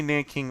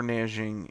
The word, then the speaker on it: Nanjing: Nanking, and also you'll see it spelled Nanjing. That's the Chinese pronunciation, but you could say Nanking or Nanjing. It does not matter. They're both correct. It depends if you're speaking American English or trying to be correctly Chinese.